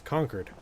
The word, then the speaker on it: Concord: Like, yes, the word is Concord, but the pronunciation of the town is conquered in the same way that uh, Quinzy is named for a man with the last name Quinzy.